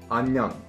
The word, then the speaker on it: 안녕: In this case, they pretty much merge together, and the pronunciation basically just becomes a plus nyung. A nyung. A nyung. Anyang.